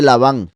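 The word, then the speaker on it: לבן: que está aquí marcado es el nombre lavan lavan blanco livne vean como también es como levan o sea esto se podría pronunciar levan si no fuera por los puntos de vocal que es la Luna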